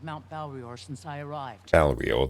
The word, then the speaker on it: Balrior: Balrior, that's the name. I actually wasn't pronouncing it too wrong. I was saying Mount Balrai, so Balrior.